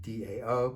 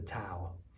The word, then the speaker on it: Dao: but a done TN we're pronouncing the Dow with a D Dao but it could be the towel but it's more than